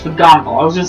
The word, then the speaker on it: McGonagall: I was like, I'm gonna say it right, it's McGonagall.